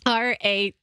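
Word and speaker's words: Raynaud: it called right now syndrome how do you spell that r-a-y-n-a-u-d and it's when you're extremities whatever and your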